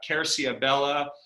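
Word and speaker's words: Querciabella: uh he is the owner and honorary chairman of uh kercia bella uh which i think means oak tree sebastiano yes is how you pronounce it and it's beautiful oak tree beautiful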